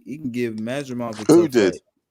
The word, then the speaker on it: Madrimov: It's just pronounced Madrimov.